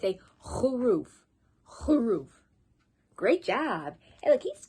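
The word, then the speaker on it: خروف: soft write a sheep sheep in arabic it's roof remember use your throat it's a whole roof great job hey look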